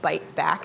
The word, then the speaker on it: Byte Back: nonprofit organization based here in DC we're called bite back it's spelled byte back and we train unemployed and